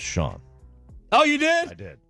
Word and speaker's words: Shan: responded to Dan I did say that it's pronounced Sean oh you did I did thank you he